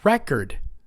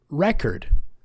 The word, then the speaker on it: record: The noun is on the first syllable, record. The action to write down the information is record.